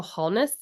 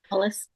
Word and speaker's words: Hollis: And then I have a manifest journal which is like the Rachel Holness method. I think that's how you say her name. Hollis. Hollis.